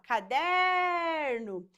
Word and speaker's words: caderno: da palavra caderno ó se eu chamar a palavra caderno eu vou falar caderno perceba que a sílaba que se estende é a sílaba der E por que que